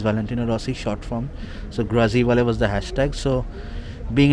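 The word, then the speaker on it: Grazie Vale: Now this sticker, a lot of people mispronounce it. Grazevale kya hai? It's not Grazevale, it's Grazivale.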